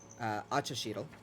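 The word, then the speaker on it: Axochitle: about him the witch's name is achashidel which is spelled a-x-o-c-h-i-t-l-e and probably about all queer has mentioned so far is that acha sheedle is an old friend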